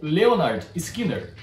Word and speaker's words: Lynyrd Skynyrd: ou Homem Simples, da banda Lynyrd Skynyrd, ou Leonard Skinner. Não é que o nome da banda tenha duas pronúncias. É que o nome da banda é basicamente uma paródia do nome de um homem simples chamado Leonard Skinner.